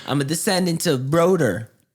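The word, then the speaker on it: Brodir: I'm a descendant of Broder. Brodeer was how they pronounced it at the time.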